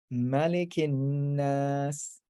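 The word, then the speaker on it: مَلِكِ النَّاس: Malikin nas. So again, because it's the end of the sentence, you can drop that last short vowel.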